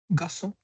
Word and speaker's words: garçon: Now here, how should we pronounce it? Garçon. Garçon, but why? It has O. Now here we have learned that with A, O, U, it will be pronounced as Ka. Why it is so? It has accent.